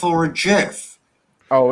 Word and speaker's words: GIF: It's a hard G.